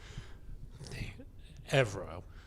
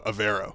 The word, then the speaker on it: Evero: Evero. No, Avero.